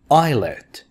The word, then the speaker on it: islet: different species different plants islet s is silent islet a small island fjord